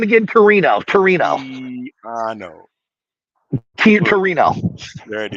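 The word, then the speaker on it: Tino: Torino.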